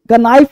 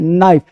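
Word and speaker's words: knife: spelling improve करना है देखो एन से पहले के साइलेंट रहता है एम से पहले के क्या कहा भाई एन से पहले के अब एन से पहले के अब देखो कनाइफ नहीं कनाइफ बच्चा गलती मैं मेरे पास बच्चे आते हैं ना वो गलत पढ़े थे कनाइफ नहीं नाइफ ये जो के है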